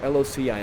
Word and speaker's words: loci: I've read Loci before, L-O-C-I. I think it's pronounced like that, Loci.